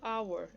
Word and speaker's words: hour: E também eu vou utilizar o when quando eu tiver nouns starting with silent H.